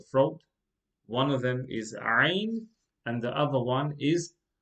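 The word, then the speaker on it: ع: This letter is pronounced from the middle part of the throat. Two letters are pronounced from the middle part of the throat. One of them is Ain and the other one is Ha.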